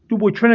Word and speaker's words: Dupuytren: Well, it's really a French word. They have a French pronunciation, but in English, and here in America, in English, is Dupuytren. Dupuytren is the name of